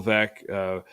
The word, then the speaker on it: Veeck: Bill Veeck was the owner of the White Sox for a couple of years. There's a book, that helps with the pronunciation. Veeck is in rec.